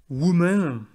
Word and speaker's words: women: 4 femmes travaillent dans ce restaurant, ça donne 4 women work at that restaurant. Alors voilà. Bon, attention bien sûr à la prononciation de woman au pluriel. Le O se prononce E, on dit woman.